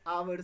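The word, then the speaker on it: hour: जो कि कॉन्सोनेंट है, बट एच आपका क्या रहता है, साइलेंट रहता है। जब हम इसका उच्चारण करते हैं तो वो आवर से करते हैं ना, because we don't pronounce the H means with a vowel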